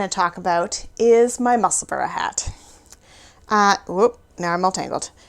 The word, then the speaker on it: Musselburgh: And yeah, so it's Musselburgh like Edinburgh, if you're wondering how to pronounce it.